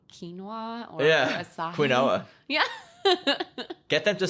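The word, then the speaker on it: açaí: What is acai? Acai, it's that berry, the Brazilian berry that was the superfood. That's how you pronounce it.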